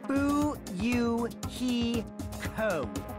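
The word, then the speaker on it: Fuyuhiko: last name is my first name is pronounced boo you he Co I'm still an inexperienced member of my family's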